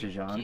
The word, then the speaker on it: Djose: And before that we get to pray at the temple in Jose. It's pronounced Jan.